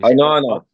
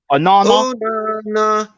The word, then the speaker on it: Onana: How do you pronounce his name? Onana. Onana.